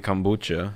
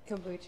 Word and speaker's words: kombucha: And someone in the chat said we have to drink the coffee kombucha. Is that how you say it? Kombucha. Yeah. Kombucha.